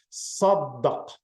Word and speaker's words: صدق: صدق, صدق, صدق. That's how you pronounce it.